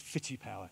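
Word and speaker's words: FitiPower: got a line called fitty power f i f i t i p o w e i it's a weird name when you break it down into its syllables it's fit TI power it's a bunch of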